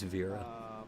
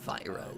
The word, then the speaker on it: Vyra: And those realm names are Ariat, Thought it was Vera, but Vyra is how you say it Lotharia, apparently.